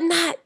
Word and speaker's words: know: the K is silent the K is silent and the W is also silent and what does that leave in oh no no but not no like no not